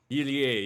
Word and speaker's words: Irie: I just want to pronounce it correctly. Shigehiro Irie. Irie, yes.